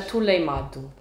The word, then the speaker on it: atoleimado: Atuleimado é um tule. Atuleimado. Ah, uma pessoa que é meio tolinha. Sim, um tule. Aí é bem. É um atuleimado.